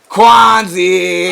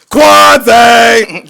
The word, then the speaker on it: Quanziiie: I heard you can't say his name regular, so you have to say it like Quanziiie.